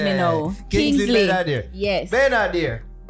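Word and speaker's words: Kingsley Ben-Adir: Bensley, you said? Kingsley Ben Adair. You are confused right? me now. Kingsley Ben Adair.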